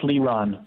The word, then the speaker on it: Leron: It's pronounced Leron. Leron. All right. I'm hooked on phonics usually. I'm not at this moment. So now I've got it. Leron is how we say it.